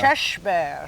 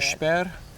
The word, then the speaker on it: körsbär: Körsbär. Shush, like shush. Shush. Sheshberry, like sheshber. Okay.